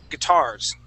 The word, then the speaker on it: guitars: right here is guitars so we put the accent at the end of the word guitars guitars good one more